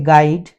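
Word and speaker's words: guide: यू के बाद यदि कोई वावेल आ जाता है तो ये साइलेंट हो जाता है, जैसे गाइड, गैस और गार्ड।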